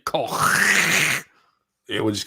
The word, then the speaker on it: Koch: Cook? How do you pronounce it? In German, obviously, Koch.